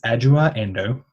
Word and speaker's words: Adjoa Andoh: So the correct pronunciation is Adjoa Andoh.